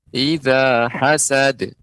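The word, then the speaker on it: إِذَا حَسَدَ: Lazada Oh iya nah yang terakhir itu baru eh pas dia pengucapannya Ihza hazards Eza hazards ya jadi dia tidak ada huruf hamzah nya di akhirnya ya Demikian Ibu Terus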